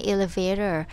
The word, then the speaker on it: elevator: สังเกต นะ คะ ว่า ครู อ้อ เนี่ย ไม่ ออก เสียง ตัว T ใน elevator เพราะ ว่า คน อเมริกัน เนี่ย มัก จะ ออก เสียง ตัว T เป็น ตัว ดี ค่ะ เลย อ่าน ว่า elevator elevator 2 คำ สุด